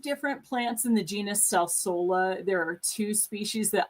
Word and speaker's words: Salsola: Salsa. I'm saying it wrong. Salsola.